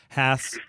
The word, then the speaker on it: Hass: h a s s haths like your rear end that's how you can remember the pronunciation so um so now